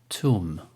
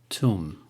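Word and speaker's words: thumb: Daud another example of they be not being pronounced thun thun another example climb climb ah ah like the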